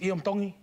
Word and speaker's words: Iam Tongi: Tongi. You pronounce the T's like a D in the Tongan culture.